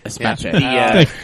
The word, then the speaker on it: Espace: that had a VQ series engine was the Espace, and I think I'm saying that right. I don't know, the minivan. Yeah, in 2003. It's actually pronounced who cares. Exactly. Sorry. Espace.